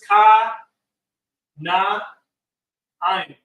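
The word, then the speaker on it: כנען: Now, how do we say that in the Hebrew is ka, na, ayin. Kana ayin.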